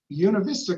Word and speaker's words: Buena Vista: John grew up in Buena Vista, and that is how you say it, Buena Vista, Colorado, and earned a